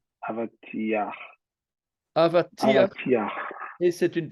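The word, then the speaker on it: אבטיח: Non, c'est un patach furtif. Le patach, c'est le A en dessous. Hein. Ce qui veut dire que partout, vous prononcez d'abord la consonne et puis la voyelle. A, V, A, T, I. J'exagère évidemment. Sauf à la fin.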